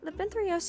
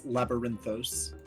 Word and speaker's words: Labyrinthos: For pronunciation's sake, it is Labyrinthos.